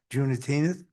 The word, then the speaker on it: Juneteenth: June 19th, 2025, Town Hall closed in observance of Juneteenth. That's how you pronounce it.